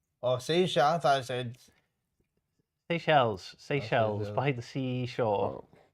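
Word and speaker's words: Seychelles: I say I say Chel's paradise fly catcher. Please forgive me if I've totally butchered that. Seell. Oh, Seells.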